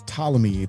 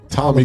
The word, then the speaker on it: Ptolemy: Yeah, that's Ptolemy. There's the P is silent, sir. It's Ptolemy Gray. Ptolemy.